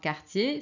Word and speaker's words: quartier: voyez ici par exemple quartier c'est quartier quartier en français ok alors ici on